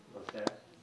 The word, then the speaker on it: Auxerre: Auxerre.